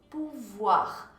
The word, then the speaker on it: pouvoir: Olha só a pronúncia dele, o com U fica U, então pou, ou com I fica wa, então pouvoir, pouvoir.